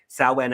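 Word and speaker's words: Samhain: chance go on YouTube look at what saan it's spelled s m Ha i n look at the history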